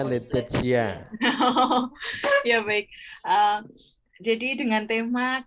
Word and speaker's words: Laetitia: Membacanya Laetitia.